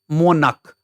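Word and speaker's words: monarch: एम ओ एन ए आर सी एच मोनक मोनक मोनक।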